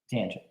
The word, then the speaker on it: tangent: And then finally, we have tangent down here at the bottom, and it's pronounced just like it looks, tangent.